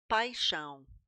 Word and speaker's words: paixão: Sometimes the X is going to sound like a sh.